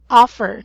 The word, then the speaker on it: offer: Offer. Offer, not offer. Okay. Okay. It's a short O, so it should be pronounced as offer.